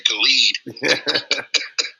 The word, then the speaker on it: Khaled: Hey, like DJ DJ Khaled said, some say Khaled, some say Khalid.